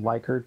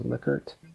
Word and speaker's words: Likert: So you'll call it Likert, but correct pronunciation is Likert.